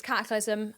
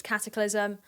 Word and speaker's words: Katiclyzm: wants to call herself okay it's cataclysm um I just want that to be known it's cataclysm um and I think